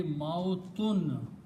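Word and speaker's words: موتٌ: And the noun from this will be mautun. Mautun means death. Mautun, when we stop, we say mouth. But the word is mautun, means death.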